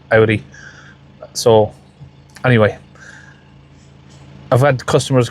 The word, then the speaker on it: Audi: had customers come to Audi or Audi, however one way you want to pronounce it. I've always pronounced it Audi. In England, everyone pronounces it Audi.